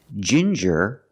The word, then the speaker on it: ginger: compare these two words Ginger and finger the NG is in the middle is before ER but you have different pronunciations with ginger we use the J sound like juice and jump and the regular n